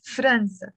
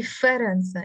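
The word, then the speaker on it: فرنسا: okay okay yeah yes franza in standard arabic they say ferenza in the lebanese dialect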